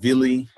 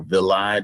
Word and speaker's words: villi: And mucosal folds is the projections called villi or villi, depending on how you want to pronounce it.